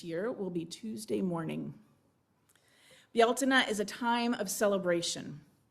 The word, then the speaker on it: Bealtaine: It is our way of celebrating the pagan holiday of Bealtaine. That's the Celtic pronunciation. It's spelled Beltane, but that's not how it's pronounced.